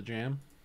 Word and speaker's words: jamb: people will believe you it's called jam but it's spelled jab really weird isn't it j-a-m-b maybe it's j-a-m-b yeah it's j-a-m-b it's not j-a-b i don't know what